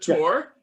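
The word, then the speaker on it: Tor: say th the they say so is it tour oh yeah okay that's why it's called t-o-r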